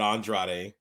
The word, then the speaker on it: Andrade: Andrade is how they say it. Andrade. There's an R there. Andrade. You got to roll the tongue.